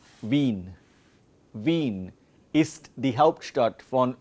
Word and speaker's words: Wien: So, when we learn this in German, or you can say we are learning about Wien und der Wein. Wien und Wein.